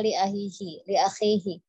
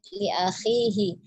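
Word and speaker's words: لأخيه: Kemudian li akhihi agak cepat dibacanya li akhihi. Afwan, Ukti bacanya tadi li akhihi gitu, khi-nya dipanjangkan ya, dipanjangkan sedikit, li akhihi ma yuhibbu li nafsih.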